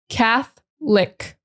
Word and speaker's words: Catholic: Catholic. Forget about the O. Just throw the O in the trash. Forget about it.